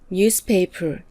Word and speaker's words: newspaper: 즉, cut, picture, newspaper 이렇게 3 단어의 강세가 오는 것입니다. 특히 news와 paper는 2개 명사가 결합해서 만들어진 단어인데요. 이럴 때는 앞에 명사에 강세가 옵니다.